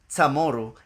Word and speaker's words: CHamoru: Pues explico que asíismo siempre se ha pronunciado la palabra chamorro, o sea, chamoru en el idioma chamorro.